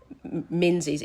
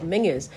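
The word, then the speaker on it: Menzies: And he said, "Mingers." And I went, "Oh, menses." And he goes, "No, it's pronounced mingers."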